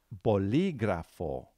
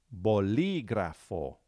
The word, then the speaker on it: bolígrafo: just like that okay so here's the word bolígrafo bolígrafo now before you spell it listen to how I'm stressing one particular